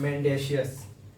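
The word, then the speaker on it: mendacious: first शब्द है आप देख ही रहे हैं मेंडेशियस मेंडेशियस इसको क्या पढ़ेंगे प्रोनाउंस क्या करेंगे मेंडेशियस मेंशियस एम ई एन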